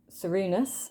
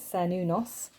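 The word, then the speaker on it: Cernunnos: to pronounce them so i was always calling this person cerunus um it's ser nunos so it wasn't too far off we got lou brigid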